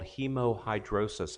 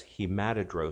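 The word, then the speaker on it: hemohidrosis: in the literature of sweating blood it's called hemo hydrosis I'll spell that for if you want to look it up it's h e mo h i dro sis some people refer to it as he matted row suspected Rossa s' is typically what I tell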